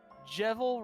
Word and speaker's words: Jevil: dollars and 64 cents jebel rhymes with evil evil oh well I've been saying that wrong for a while now I guess or